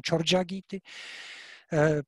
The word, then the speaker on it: Charyagiti: And from this Siddha milieu comes a collection of tantric songs called Charyagiti or Charyapadas in Bengali pronunciation, Chorjagiti, probably from the 11th century, but the dating is not sure.